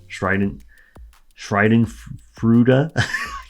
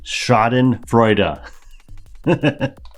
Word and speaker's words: Schadenfreude: Shriden. I know this word. I know how to say it. Shriden Fruta. I can't pronounce it right now. Schadenfreude. It's Schadenfreude.